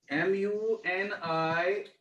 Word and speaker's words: Munich: ख का थोड़ा सा उच्चारण, क प्लस ख ऐसा उच्चारण करेंगे इसका, तो म्यूनिक हो जाएगा, म्यूनिक। न तो क पूरा रखना है न पूरा ख रखना है, ठीक है ना?